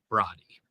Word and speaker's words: Brody: It's pronounced Brody. Broddy.